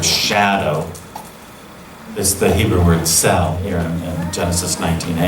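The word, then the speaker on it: צל: a shadow it's the it's pronounced cell it means shade or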